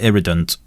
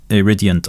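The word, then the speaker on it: Iridient: So first of all, I call it Irridant. Iridiant, I think, is the correct pronunciation.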